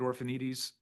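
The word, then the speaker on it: Orphanides: My name is Orphanites. The last name is spelled O R P H A N I D Ess.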